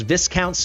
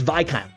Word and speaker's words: Viscount: out most thorough guide on Lord Phineas AKA VI count Phineas in the realm I have to get this off my chest I said this was Viscount flame apparently according to like a million of you it is pronounced VI counts flame I don't know this